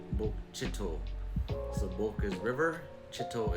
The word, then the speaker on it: Bokchito: So this town right here, a lot of people say Bokchita or Bokchito, but it's actually pronounced Bokchito. Bokchito.